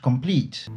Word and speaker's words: complete: Donc l'accent finira toujours en première syllabe, conformément à la première règle de placement de l'accent dans le mot. To complete.